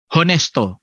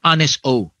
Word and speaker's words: Honesto: First one, yung nag-file sa, ang pangalan kasi nito ni Cabarugis ay Honesto or Honesto, silent H, okay.